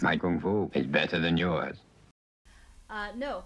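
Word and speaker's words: 功夫: What is Kung Fu? I think there's a huge misconception about what is Kung Fu. Kung Fu in Chinese means Gong Fu. That's how you say it. Gong Fu.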